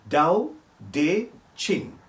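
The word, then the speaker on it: Tao Te Ching: wonderful book t-a-o-t-e-c-h-i-n-g but pronounced like the t with a d dao de ching six centuries before christ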